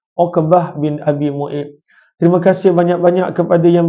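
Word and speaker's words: معيط: uqbah bin Abi Muid ejaan dia mim Ain ya Ta Muid maka ada ada yang menyebut Muid ada yang menyebut muayyad tapi lebih disebut Muid uqbah bin Abi Muid terima kasih banyak-banyak kepada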